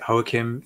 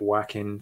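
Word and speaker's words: Joaquin: so I.E pronounce it hoekim Phoenix I know some people um pronounce it whacking Phoenix yeah um I'm going with the Spanish pronunciation and I'm sticking with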